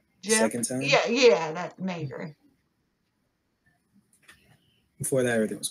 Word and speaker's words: Maegyr: It's Maegyr, Maegyr. That's how it's pronounced.